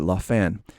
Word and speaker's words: Lafin: Spelled Lafin, but it's a French maker. I believe you pronounce it Lafin.